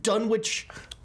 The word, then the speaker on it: Dunwich: It's Actually, Dunwich. no, they don't. Dunwich. It's the teleprompter person who types it in Phonetically, yeah.